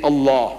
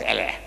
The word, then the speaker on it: Allah: Only thing I'm saying, you must pronounce it the way I ask you to pronounce. Allah, you can spell it, but say Allah, not Allah.